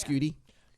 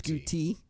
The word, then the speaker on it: scooty: Scooty. No, you need to overpronounce the T. Scooty. Scooty.